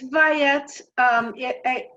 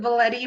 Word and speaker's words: Vaillette: Yeah, it's Vaillette. I grew up with it Valetti, but I switched to the French pronunciation because in France they never mispronounce it.